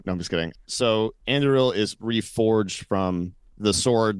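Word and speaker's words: Andúril: I think it's Anduril. Like you're supposed to roll Anduril. Anduril. Okay. So it's of course, as we all know. No, I'm just kidding. So Anduril is reforged from the sword that was broken.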